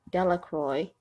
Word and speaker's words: Delacroix: Harry Jones and Vicki delacroix the villagers pronounced this name delacroix that's how I pronounced it sorry eventually made